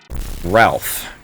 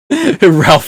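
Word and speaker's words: Ralf: Ralph. It's spelled R-A-L-F.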